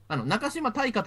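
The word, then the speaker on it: 中島大河: けどこの中島選手中島大河と読むんですけど一番最後の金字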